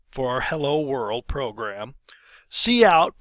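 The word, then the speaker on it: cout: our hello world program C out pronounced C out that stands for character output stream the hello the yarn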